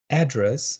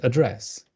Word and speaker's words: address: You have address and address. The second is British.